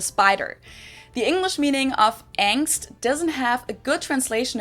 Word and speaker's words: Angst: Angst, capitalized in German and with the German ah, basically just means fear.